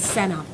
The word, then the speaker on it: Sanae: My name is Senna, but I appreciate it.